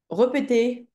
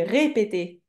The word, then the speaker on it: répéter: Repeter. On dit répéter.